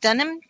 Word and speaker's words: Dunham: Is it Dunham, right? Yeah. Hello, is that how we pronounce it? Yep.